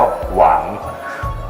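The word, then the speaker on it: 王: ซึ่ง อ่าน ว่า ภาษา จีน กลาง อ่าน ว่า หวาง หรือ อ๋อง แปล ว่า กษัตริย์ นะ ฮะ ตรง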